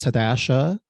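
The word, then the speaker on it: TDSHA: hokel thank God uh it's pronounced tadasha amongst housing activists and it can be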